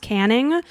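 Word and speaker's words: Canynge Road: It's pronounced Canning, but it's Canynge is how it's spelled.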